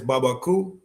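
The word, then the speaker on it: Barbancourt: The Haitian one is Babaaku. It's It's spelled like Barbun Court, but it's French. Baba Coup um Angura obviously um Apple is not that good bro.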